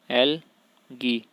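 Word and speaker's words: algae: पहला तो होते हैं एल्गी, पहला क्या होते हैं? शैवाल होते हैं, शैवाल, जिसको इंग्लिश में एल्गी भी बोलते हैं, एल्गी, ए साइलेंट है इसमें, एल्गी।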